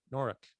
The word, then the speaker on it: Norwich: in norfolk no norway norrick they call it norrick it's spelled like norwich that was the halfway point